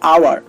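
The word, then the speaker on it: hour: তো আপনারা একটু লক্ষ্য করুন, এখানে এইচ বসেছে ঠিকই, বাট কোনো কাজ করছে না, কাজ করছে পরের বর্ণটা। দেখুন এখানে ও কাজ করছে, আর উচ্চারণ হচ্ছে আওয়ার, আর এখানে আটা হচ্ছে স্বরবর্ণ।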